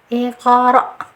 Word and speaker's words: iqra: Cara bacanya iqra. Aslinya ik. Ik ditahan dulu, ik, jangan ada angin yang keluar dulu, ik. Ik. Kemudian dipantulkan sedikit saja. Iqra. Dipantulkan seperti itu ya.